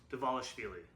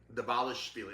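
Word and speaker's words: Dvalishvili: Davalishvili. Davalishvili.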